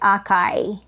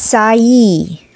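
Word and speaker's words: açaí: number three wait a minute it is not pronounced as Akai instead it is pronounced as sayi it has fresh acai it is a small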